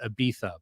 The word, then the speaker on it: Ibiza: So he goes to Ibiza, or as they call it, Ibiza, but I don't like pronouncing it like that, so it's Ibiza.